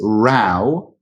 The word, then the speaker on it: row: but they're pronounced differently so there is rao which is another way of saying argument so as in and